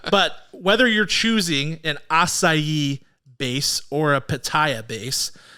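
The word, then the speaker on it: açaí: wrong I don't know do you say Akai no I think that's wrong I think it's wrong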